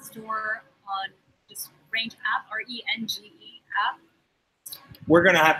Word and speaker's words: Renge: Yeah, well, Range actually pronounced as Renge, but no one could pronounce Renge.